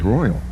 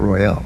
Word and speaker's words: ROYALL: And the proper pronunciation of my name is royal, not royale. Okay? And the reason why that is if you if it was R O Y A L, it would be Royale.